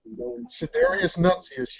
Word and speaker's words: Sidereus Nuncius: tell me how to pronounce it if I pronounce it incorrectly. So your book is called Sidereus Nuncius? Sidereus Nuncius, yes, and that is Latin for starry messenger.